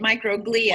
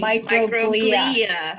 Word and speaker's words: microglia: I wondered if that's how you said it, microglia. I was wondering. Microglia. Okay. Yes. I put the emphasis on the wrong syllable.